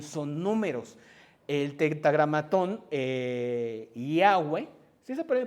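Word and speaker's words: Yahweh: El tentagramón eh Yahweeh sí se puede pronunciar.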